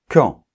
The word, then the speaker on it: quand: qui autre exemple quand donc attention la lettre U ne se prononce pas on doit dire qui quand et pas qui ok on est bien